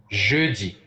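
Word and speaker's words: jeudi: that too Thursday in French is ji ji and it is spelled j e u d i and speaking of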